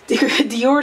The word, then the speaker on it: Dior: Dior Skin Nude in the color 60.